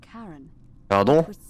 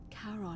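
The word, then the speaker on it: Charon: it's just as you described it only your pronunciation is a little off the name you heard wasn't karen c h a r o n as in caron who in exchange for the right coin helps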